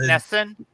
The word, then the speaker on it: NESN: Another game It's that actually just pronounced started Nesson, is and I do going not, upwards unfortunately.